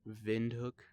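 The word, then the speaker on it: Windhoek: of Namibia is it it's pronounced I know it's in German like vind hook something um anyways I'm kind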